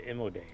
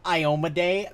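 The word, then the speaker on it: Iomedae: There is a temple to Imode there. Someone might be able to help you. I God, appreciate just it. for a little clarification, it's pronounced Iomade.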